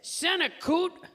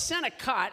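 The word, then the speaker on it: Senokot: of medication he says Santa coot watch the Senate coot well first of all it's Senate cot it's been around forever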